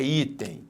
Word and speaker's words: item: Qual é a sílaba tônica em item? É item ou é item? É item. Então, aqui a sílaba tônica está aqui. Então, nós temos uma paroxítona.